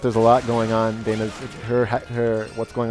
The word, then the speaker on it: Dana: it turns out there's a lot going on Dana's her hat hair what's going on with her